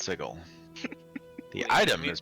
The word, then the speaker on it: Sigil: to plant shift to sigel it's pronounced sigil the city is pronounced sigil the item is pronounced